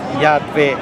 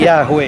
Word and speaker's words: Yahweh: Yahweh, Hadweh, yeah, yeah, yeah. Which we don't know precisely how to pronounce. Nobody knows. But no big deal. But for ease, they say Yahweh, you yeah.